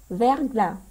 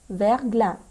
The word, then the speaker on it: verglas: y à du brouillard on ne prononce pas le s verglas verglas merci quel temps fait-il